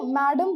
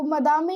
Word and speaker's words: madame: Okay, ये French word है, तो अगर आप चाहो तो इंग्लिश में इसको मैडम बोल सकते हो, but basically if यू गो in French तो इसका प्रोनाउंसिएशन जो है वो मदामे ही होता है।